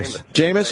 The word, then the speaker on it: Jameis: do you say it's that first name Gina Jameis okay Jameis Winston will undergo internal discipline and